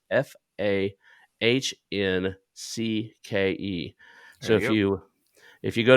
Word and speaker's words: Fahncke: because it's not spelled the way that it's pronounced. It's Fahncke.